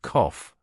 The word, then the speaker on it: cough: the a in Father the main difference is in the vowel sound with British English using a short o and American English using a broad a the word cough has